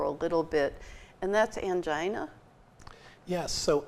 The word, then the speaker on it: angina: little bit and that's angina yes so angginina or anga I've heard it pronounced both ways uh is simply some